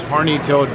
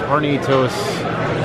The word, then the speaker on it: Hornitos: This Horny-Toed Black. It's pronounced Hornitos Black.